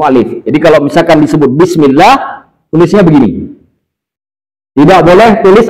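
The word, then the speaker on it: بسم الله: Alif yang tidak ditulis ini tidak boleh dibaca bismillahak boleh baca bismillah dipanjangkan Bagaimana cara panjangnya bismillah itu cara baca benar Makanya kalau baca bismillah Bismillahirrahmanirrahim salah bismillah bismill terlihat bedanya kan bism kenapa dipanjangkan sedikit menunjukkan padanya ada a Alif dibaca agak dipanjangkan untuk menunjukkan sebagai ganti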